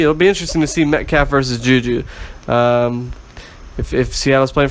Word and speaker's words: Metcalf: Metcalf?